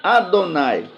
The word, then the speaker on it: Adonai: dos sinais vocálicos, né, que resultou no nome Yehová, porque eles ignoravam, eles desconheciam que os sinais vocálicos foram deixados pelos maçoretas aqui, não para dar essa pronúncia ao nome do Eterno, mas é para que cada vez que eles se deparassem com esse nome, deveriam pronunciar Adonai, né?